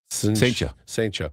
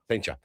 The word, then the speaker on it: Cijntje: Saintja. It's CLINTJE. No, it's CIJNTJE. Oh, there's no L. It's an I. No, it's not. Saintja.